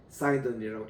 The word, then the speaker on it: Sidon: 오늘날 그리고 시돈 Sidon 사이돈이라고 읽는데 지금 또 이 타이르 가면은 두로에 가면은 아주 그 프랑스식의 카페와 또 프랑스식의 이 식당들이 해변에 들려 있습니다.